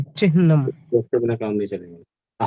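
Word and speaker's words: चिह्नम्: तो इसको चिह्नम बोलना चाहिए, चिह्नम, अरे हाँ में आ थोड़ी है।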